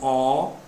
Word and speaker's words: Olimpíada: O primeiro passo é separar a sílaba, então eu digo Olimpíada. Olimpíada. Veja, última, penúltima, antepenúltima, Olimpíada é uma palavra proparoxítona. E por ser proparoxítona, deve ser acentuada.